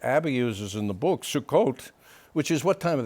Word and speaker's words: Sukkot: How do you pronounce it? Sukkot. Sukkot.